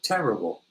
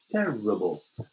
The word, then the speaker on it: terrible: three syllables terrible dude terrible the first um syllable is stressed the next two not terrible terrible this one terror tendril